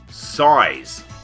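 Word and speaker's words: PSY·S: Size. Yes, that's how it's pronounced.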